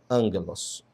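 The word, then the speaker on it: ἄγγελος: A aspiração branda não é pronunciada. Então nós colocamos aqui a palavra angelos. Você notou que ela tem aqui esse sinal de aspiração branda, mas a pronúncia continua sendo angelos.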